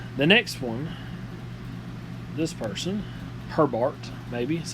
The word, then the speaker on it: Herbart: The next one, this person, Herbart, maybe is how you say that. They were and it's Johann. Let me make sure I'm saying that right. Yeah, Johann Herbart.